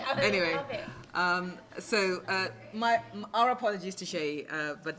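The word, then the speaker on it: Seyi: I'm really sorry about that, but Sheyi's name is spelled S-E-Y-I, and Akiwawa, A-K-I-W-O-W-O.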